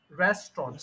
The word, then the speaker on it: restaurant: that's the spelling but when we pronounce it we say Resturant okay restaurant so Resturant then the straw then the on okay restaurant all right